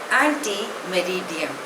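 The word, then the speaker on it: ante meridiem: आर आई डी आई ई N pronunciation is एंटी मेरिडियन इट इज a Latin word it's short form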